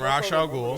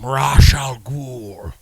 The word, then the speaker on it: Ra's al Ghul: You saying it right? He's like, Man. I'm Ra's an. al Ghul. I'm Is it an- Race though? Because my niggas say Race in the movies. You can say it either way.